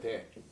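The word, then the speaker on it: δέ: 그러나는 접속사가 이거 봐요. 이거. 대라고 해요. 대. 대라고 읽는 요 접속사가 그러나예요.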